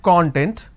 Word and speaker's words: content: So, we have the word content. I break it into two syllables.